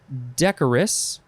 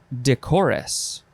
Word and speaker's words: decorous: blankets pillows chaise lounge next is decorous or decorus it is spelled d-e-c-o-r-o-u-s decorous or decorus adjective from 1653 i like that both of those pronunciations are here because i wouldn't know i would go back and forth in my brain which one which one is it this is marked by